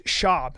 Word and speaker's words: Schaub: It's Schaub. You have to say his name right.